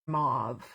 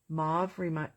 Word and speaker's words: mauve: like wow okay Ellen says a movie for mauve okay maybe I've been saying it wrong my whole life I do apologize I've always said mauve movie omovi I see with stove mauve rhymes with stove move well I'm sure